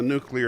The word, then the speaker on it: nuclear: the easy way to remember is the word new followed by the word clear crunched together.